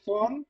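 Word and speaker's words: von: হ্যাঁ, তার মানে ফন, ভন না, উচ্চারণটা হবে ফন আকসেন বিশ ফন।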